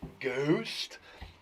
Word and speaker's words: ghost: Okay, what is the silent letter in the word ghost? Ghost. The silent letter in the word ghost is... It's her.